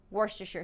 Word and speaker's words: Worcestershire: typed it into google apparently this is pronounced worcestershire sauce you're gonna need it i